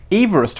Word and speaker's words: Everest: Everest is named after a man named George Everest funny enough that's the correct pronunciation pronounced Everest so we have three things